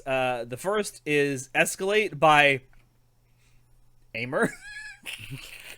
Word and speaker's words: Aimer: It's supposed to be pronounced like it is in French, I guess.